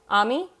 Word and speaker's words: Ami: of uh pronunciation of my name is AME Ami not Amy Ami OMG fanfiction writing scream